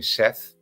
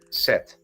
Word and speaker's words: Seth: So I'm gonna, that's the same reaction I will have when somebody calls me Seth. Seth. Okay. How do you say it then? Seth. Set.